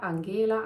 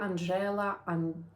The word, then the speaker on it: Angela: So the actual pronunciation of the surname would be, and the name can be pronounced Angela, Angela, Angela, Angela, whichever you prefer.